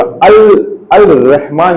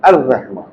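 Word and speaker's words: الرحمن: बहुत से लेटर्स होते हैं अलिफ लाम को उन लेटर से ज्वाइन करने के बाद लाम की आवाज नहीं आती। सही है? वो साइलेंट हो जाता है। वो लाम साइलेंट हो जाता है। लेकिन जैसे यहां र आया यहां पर अर बोला। अल अल रहमान नहीं बोला। क्या बोला हमने? अर बोला। अर रहमान।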